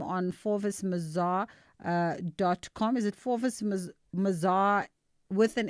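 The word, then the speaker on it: Forvis Mazars: Oh, we just don't pronounce the s.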